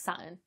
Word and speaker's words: Saturn: I mean, I bet half the comments are going to be about how I pronounce Saturn, because I know I don't pronounce the R, but, you know, welcome to the North.